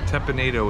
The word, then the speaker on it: Teppan Edo: at tepinado was fantastic tepinito is the pronunciation that we did ask one of the folks that worked there the proper way to say it because we've heard it